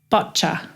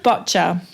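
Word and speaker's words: boccia: played and it's called bocca you had to teach me you had to teach me how to pronounce it properly so it's called bocha and bocce is a precision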